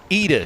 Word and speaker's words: Ida: is leading is it AAA she she told me it's pronounced AA Carlson yes from Sweden she and